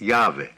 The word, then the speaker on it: Yahweh: as the Holy Mountain the name of God consists of the Hebrew letters y h w h pronounced Yahweh but not normally spoken